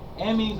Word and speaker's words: amines: do you spell yeah amines is spelled a m i n e s Amin like amino acid oh okay okay all